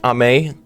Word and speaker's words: Ame: so i want to give a huge shout out to ame i'm i think i said his name wrong the first time i said amy but i'm pretty sure it's ame and uh he has gone